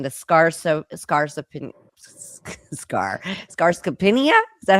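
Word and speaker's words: sarcopenia: And then the um excuse my pronunciation the scars scars scar scarcopinia. Is that how you say it? Scaropenia.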